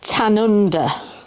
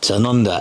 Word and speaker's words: Tanunda: Lynn's going to say it because I always pronounce it wrong. It's Tanunda. Tanunda, and that is it's in the Barossa Valley, which is famous wine growing region.